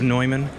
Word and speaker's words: Neumann: I feel like one of those noobs that says Newman instead of Neumann.